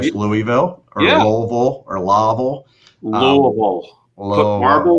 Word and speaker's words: Louisville: of business down there and we were practicing pronouncing it correctly. Louisville.